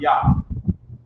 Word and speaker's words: Iah: It's not Yah like the sort of the Lord's name. It's Yah like I-A-H, but it's pronounced Yah.